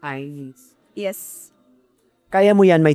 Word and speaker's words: Einz: Sorry, it's IINZ because people mispronounce my name. Again, EINZ. Many individual mentioned IINZ, but it's IINZ. Eyes.